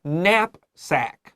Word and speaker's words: knapsack: At this time, in 1909, and 你现在也可以说 your 那个背包 would be called a knapsack. Now, nap here is K-N-A-P. 这个 K 是无发音, so 小心.